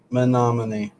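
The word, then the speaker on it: Menomonee: You cannot pronounce it unless you hear somebody pronounce it because it is not the way it's spelled at all. Menominee.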